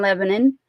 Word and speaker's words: Lebanon: show is August 3rd it's in Lebanon and I said it like that on purpose because that's how we say it I'm from Nashville so I will get in trouble if I say it like Steiner says it Mr Steiner is from